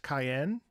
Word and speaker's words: Kyazen: Oh, Kyazen. Pronounced Cayenne? Cayenne. Kaizen. Pronounced Cayenne.